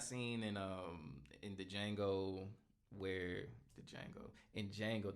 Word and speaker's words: Django: in the Django where Django the D is silent.